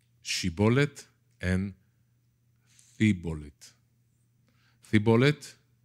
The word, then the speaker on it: shibboleth: so bible scholars say it's not shibboleth in c bullet it's she bullet and the bullet the